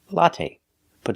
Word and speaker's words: latte: The first syllable. A latte. It's the short O sound like hot and stop. It's a short open sound. A latte. Latte. Put the stress on the first syllable.